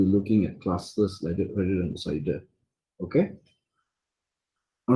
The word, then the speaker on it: CIDR: Okay, the acronym is pronounced CIDR.